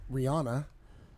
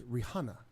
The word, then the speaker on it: Rihanna: I was reading something else, but following along with the mispronunciation of a name. No. It's not Rihanna, it's Rihanna.